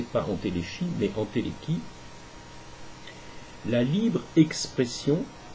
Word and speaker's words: entéléchie: Aristote appelle entéléchie, alors ne prononcez pas entéléchie, mais entéléchie, la libre expression, sans obstacle, de la nature des êtres vivants, laquelle signifie l'autodétermination des natures.